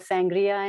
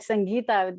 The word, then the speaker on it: Sangeeta: My name, most people don't get it right. I've been called Sangria and Nikita and many. Yeah. So right off the bat, Sangeeta, the exact pronunciation.